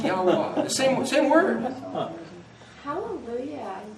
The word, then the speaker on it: Yahweh: So then how would you pronounce that? It would be very similar to the word spelled Yahweh. Yahweh.